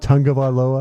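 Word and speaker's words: Tagovailoa: Is it Tongabaloa? It is. That's how you pronounce it.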